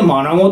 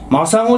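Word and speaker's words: 真砂: え真子安えこれでマナゴって読むんだってマゴじゃねえのかえ浜野マゴは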